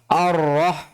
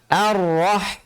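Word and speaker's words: الرحمن: Jadi jangan dibaca sebagai 'o', 'arroh', ya. Jangan sampai terkontaminasi oleh 'ro', meskipun 'ro' ini memiliki ciri khas yang tebal, tetapi jangan sampai mencemari 'alif' di depannya, karena 'alif' itu tipis dan harus dibaca tipis. A, ya 'a', jangan dibaca sebagai 'o', 'arroh'. Tapi 'a', 'arrah', ' arrahmani'.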